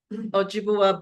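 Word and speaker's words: Ojibwe: Any Americans can tell me how to pronounce oji. Ojiba oji. Thank you. Ojiua.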